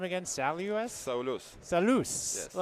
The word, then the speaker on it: Saulius: Salus? Saulius.